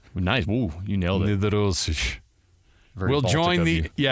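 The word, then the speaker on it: Nedoroscik: Steven Nedorosic. Nice. Ooh, you nailed it. Nedorosic.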